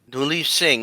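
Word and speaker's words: Duleep Singh: Uh there's the Dun I think is it Dunle missions? Is that how you pronounce his name? Die Singh.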